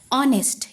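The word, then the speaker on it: honest: N umbrella और जैसे ऑनेस्ट इसमें एच है पर ये एच साइलेंट होता है तो हमारा साउंड निकलता है ऑनेस्ट तो इसमें भी एन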